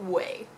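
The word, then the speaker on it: Ouai: much for correcting me I think I pronounced it we w i i pronounced it very wrong apparently in French you pronounce it way I hope I'm still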